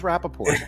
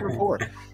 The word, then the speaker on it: rapport: and Rapport not Rapaport I always thought it was Rapaport it's actually report making the therapeutic process